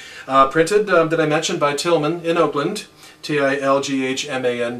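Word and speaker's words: Tilghman: that I mentioned by Tillman in Oakland DILG hman but the G H is silent so Tillman poster printing company which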